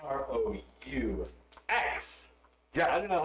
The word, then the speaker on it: roux: said you're gonna make a roux to eat.